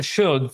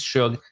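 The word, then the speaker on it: Shough: Well, Tyler Shug, first of all, that's how you pronounce it. You know what? He's slow to me. I get you, but it is Shug. I confirmed it.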